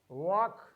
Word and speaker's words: walk: We have a letter L, talk, chalk, walk. Here we have L letter as a silent letter, L as the silent letter.